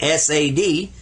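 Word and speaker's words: صاد: this one sawed and you see it says sad sad a little bit sad when you say it say sad i'm sad i've seen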